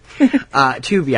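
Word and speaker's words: Tubi: I think it's on tubby too or Toby Toby Toby Toby I don't know how to pronounce that to be I'm assuming assuming it's to be yeah but it's spelled like tubby so if you didn't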